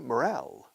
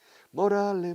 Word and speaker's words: morale: Mi moral, se dice morale, pero en inglés se escribe morale. Morale, morale, morale.